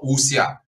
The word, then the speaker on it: wuxia: as WX I a so uh uh you pronounce it as uh usia so what it literally means in Chinese is